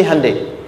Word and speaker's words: Hyundai: sana bikin Honda sini Handeai. Hyundai kan dibacanya Hande ya kan sana Honda sini Hai gitu.